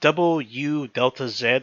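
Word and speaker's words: WΔZ: now this movie does go under two different names the way it's is w-a-z um period pronounced W Delta Z whatever that means but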